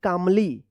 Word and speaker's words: calmly: यहाँ पे जो है ना एल साइलेंट होगा। CALMLY, तो क्या पढ़ेंगे? कामली, कामली पढ़ेंगे, यहाँ पे भी क्या है?